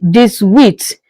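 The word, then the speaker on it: dix-huit: in English 18 is called what in French this width this width you can see again the 10 added with eight you have what you have 18 meaning this width.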